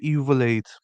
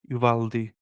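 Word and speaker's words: Uvalde: evil lady yeah I don't know you say evil Aid always conscious about Miss mispronounced in words oops here we go you valdi Uvaldi fine thank you I will remember it but thank you Uvaldi I want to make it justice do you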